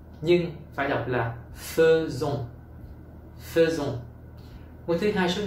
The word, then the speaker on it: faisons: Ngôi thứ nhất số nhiều, nous, đã lẽ học là faisons, nhưng phải đọc là faisons, faisons.